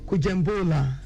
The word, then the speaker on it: Kujembola: Okay, if I want to pronounce it the way we pronounce it over there, it's gonna be Kujembola.